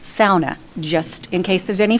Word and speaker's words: sauna: One is I'm my heritage my heritage is Finnish and it's actually pronounced SA just in case there's any Finlanders out there.